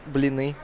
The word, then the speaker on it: blini: Oh, Bellini. Yeah, I got it. Yeah, it's Russian food, right? Yeah. You're talking about. Yeah. Yeah. How do you really pronounce it? Blini. See, there you go.